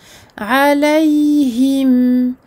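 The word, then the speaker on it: عَلَيْهِمْ: Il s'agit ici d'un lin. On n'oublie pas de bien prononcer la fatha et de faire suivre cette fatha par un ya sakin tout doux, c'est-à-dire tout en douceur et non pas de façon à bloquer en fait les lettres.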